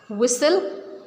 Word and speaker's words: whistle: So we are not pronouncing T in all these words.